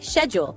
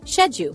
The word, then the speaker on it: schedule: In American English, it's usually schedule. In British English, shedu, same spelling, two perfectly good pronunciations.